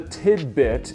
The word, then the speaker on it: Tidbyt: box this is the tidbit it's spelled TI D B YT tidbit and it's a retro